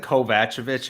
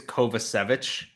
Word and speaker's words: Kovacevic: Savage I've heard um I said kovachovich at first but I think it's kovacevic I think that's what